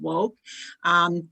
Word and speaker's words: WOCC: the co-founder of Women of Color in Cannabis, WOCC, pronounced Woke.